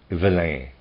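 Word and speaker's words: Villaine: He was the clerical senator Gaudin de Villena, and I'm going to forgive my pronunciation, Gaudin, G-A-U-D-A-I-N, and then D-E, and then V-I-L-L-A-I-N-E, Villene, I'm going to say Villene, end of readers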